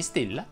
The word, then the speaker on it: Stella: line va chiusa se ti chiami stella lei va chiusa lucrezia invece si pronuncia